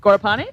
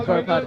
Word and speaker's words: Gorpad: So first place, number 97, was Sachin Gorpad. Gorpani? No, Gorpad. Gorpadi.